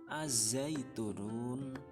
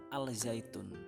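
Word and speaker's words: الزيتون: Yang keenam, al bertemu dengan za, bacanya ya ini contohnya, bacanya az-zaitunun, az-zaitun, bukan al-zaitun tapi az-zaitun.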